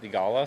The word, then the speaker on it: Theegala: yeah actually the the last name's always pretty good um it kind of comes off the tongue how it how it's spelled I guess theala so um the last